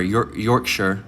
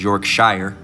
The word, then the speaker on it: Yorkshire: It's from the brother down in GMS Yorkshire, or Yorkshire, all right, is how it's technically pronounced, all right, over in England. All right, so Yorkshire, but everybody in America would pronounce that as Yorkshire, all right?